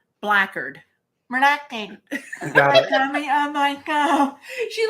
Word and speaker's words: Blackard: make them Mac foreign no not black and dirt blackard relaxing oh my God